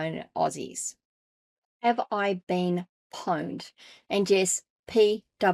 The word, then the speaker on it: pwned: Have I Been Pwned? And yes, Pwned. It's spelt Pwned, pwned.